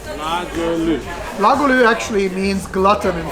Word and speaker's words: Goulue: But Goulue was the very first French bistro that ever opened in the United States.